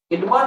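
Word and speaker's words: Edmund: এডমন্ড বা এডমন্ড দুটোই হয়, শব্দ আমরা দিয়ে থাকলে তার উচ্চারণটা হয় এডমন্ড বা এডমন্ড ডিসপেন্সার।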